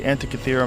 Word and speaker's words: Antikythera: Is the Antikythera mechanism.